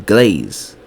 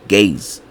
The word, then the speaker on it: Gaze: So we are using the Everlasting Glaze. Not glaze, because my pronunciation might be fucked up. Gaze. Right? And this one has perfect perturbation.